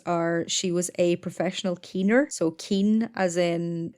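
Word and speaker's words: caoin: she was a professional Keener so Keen as in that's an anglicization of the Irish word c-a-o-i-n which is pronounced the same way which means to cry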